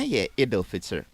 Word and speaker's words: Eid al-Fitr: And now Eid al-Fitr. Is the pronunciation right?